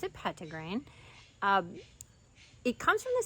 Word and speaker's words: Petitgrain: is shining on pedigree now it looks like petite grain you might hear it pronounced that way or petite grain but I pronounce it pet to grain um it comes from the same tree as